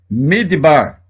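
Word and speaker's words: מִדְבָּר: vogal a última palavra midbar deserto repara que ela tem um acento aqui fazendo com que esta seja a sílaba tônica a primeira sílaba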